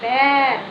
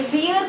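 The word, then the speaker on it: bear: रीछ, और इंग्लिश में इट्स बेयर। ये बियर कोई नहीं पढ़ेगा बेटा, बियर पढ़ते हैं बट प्रोनाउंसिएशन क्या होगा? इट्स बेयर।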